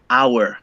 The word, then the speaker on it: hour: in in spanish yeah sometimes not always letter h is mute for example here in